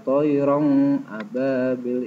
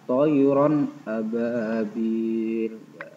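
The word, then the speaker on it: طَيْرًا أَبَابِيل: Abah thoiron ababil Hai membacanya jelas bukan toyong Ababil itu salah yang betul adalah toyoron Ababil antara rondhan itu huruf alif harus jelas karena termasuk bacaan idhar secara itu artinya jelas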